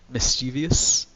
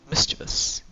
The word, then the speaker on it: mischievous: Mischievous. There. There's no I in there. It's just mischievous.